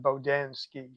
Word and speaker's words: Bodansky: Oh, they may sound more like how you pronounced it, but I pronounce it Bodansky.